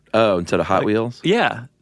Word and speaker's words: Hot Wheels: Hot Wheels. Oh, instead of Hot Wheels? Yeah, the emphasis is on the hot.